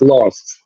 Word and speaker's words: LXST: Oh, there's LXST, law. Yeah, it's pronounced lost.